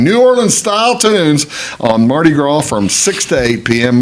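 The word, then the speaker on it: Mardi Gras: Orleans style tunes on Marty Gro from 6:00 to 8:00 p.m. Marty Gro Fat Tuesday Marty gr is the uh French pronunciation of Fat Tuesday Marty Mar you make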